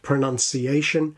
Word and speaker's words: pronunciation: If we put all of this together, the second vowel the weak first syllable pr, and the five-syllable count, then we should get something like da-da-da-da-da, pronunciation, pronunciation. Pronunciation.